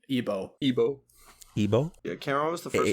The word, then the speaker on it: Igbo: Igbo. Igbo. Oh. Igbo. You don't pronounce the G.